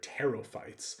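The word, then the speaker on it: Pterophytes: Um, honestly, the much larger group of seedless vascular plants is terites. Uh, the silent P here, teropyes.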